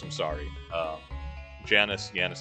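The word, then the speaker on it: Janus: I'm always gonna pronounce it Yanis. I'm sorry. Janice, Yanis. I'm always gonna go. I'm just gonna go for the elongated J on that. His only friend, other than his sister, is that cat that follows him about.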